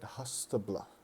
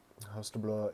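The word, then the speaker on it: Haustblót: and we'd call it hastabla I think I think that's how you pronounce it it's h-a-u-s-t-b-l -o-t Hospital um hostable is the Norse fall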